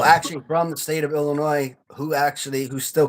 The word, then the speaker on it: Illinois: And they're like, "Oh, you're from Illinois." And I'm like, "No, what the fuck's Illinois?" Did you pronounce the S?